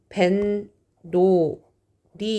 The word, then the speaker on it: 뱃놀이: 발음은 벤, 노, 리 이렇게 발음이 나거든요.